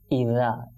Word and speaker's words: إذا: সুতরাং আমরা কি পড়ব, ইদা ইদা ইদাস এটা সিনের উপরে যেহেতু তাসদিদ তো